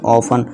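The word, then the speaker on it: often: ऑफन।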